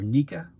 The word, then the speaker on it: NECA: version of Ming from NECA or naika whichever way you want to pronounce it I do have